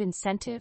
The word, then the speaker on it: incentive: fifth word is incentive the word incentive has three syllables with the stress on the second syllable incentive is a noun